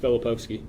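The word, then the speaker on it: Filipovski: Uh, my name is Filipoki. How do you spell it?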